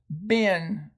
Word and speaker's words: been: simply tell them that the two e's are irregular in this word and it's to be pronounced been and then practice it